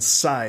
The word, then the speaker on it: Say: It's Michael and Cy, is that correct? That's good. Okay. Yes! I like to have my pronunciation right before the show starts.